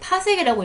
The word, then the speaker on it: 파섹: 그랬을 때 지구에서 별까지의 거리를 나타내는 단위는 보통 이거 PC라고 쓰는데 파섹이라고 읽어요.